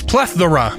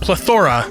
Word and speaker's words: plethora: pointed out that I was an idiot it's plethora not plethora stupid Worcestershire sauce it's pronounced horsesha shy shy shy ER sauce epitome